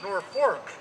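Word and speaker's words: Norfolk: Norwalk is a affectionately, oh, as they pronounce it, Norfork is affectionately referred to as the ice box of Connecticut.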